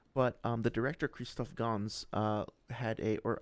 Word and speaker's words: Gans: um the director Kristoff Gans uh had a or I guess it's just Gong, so I'm sorry for the French pronunciation there.